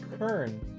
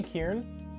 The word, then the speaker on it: Kern: So It's pronounced Kern. Captain Kern. Did I say Kieran?